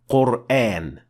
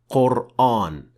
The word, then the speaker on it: Qur'an: both correct well first of all the correct pronunciation is Quran and not Quran for a very simple reason in Arabic letters